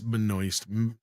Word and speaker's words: Benoist: It's Benoist, Melissa Moist, Benoist, that thing.